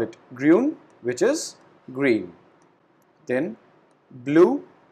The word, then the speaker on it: grün: So we call it grün, which is green. Then blue, we pronounce it blau.